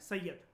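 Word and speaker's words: Said: ये कनेक्ट करता है पोर्ट सैयद को, इसके प्रोनाउंसिएशन होता है सैयद, ठीक है, port सैयद, on Mediterranean C with gulf of Swiss, जो कि एक आर्म है, एक्सटेंडेड आर्म है रेड सी का।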